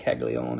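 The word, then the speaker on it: Caglianone: Spelled Kaggle, but it's Jack Kaggleon. How you pronounce it.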